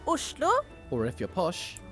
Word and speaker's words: Oslo: In Norwegian, it's pronounced... Oslo. Or if you're posh... Oslo.